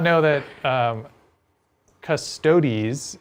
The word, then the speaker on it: Custodes: not know that um custodies is like by canon the correct way to pronounce that word yes they they've they've come out and said custodes is like wrong officially wrong which is funny because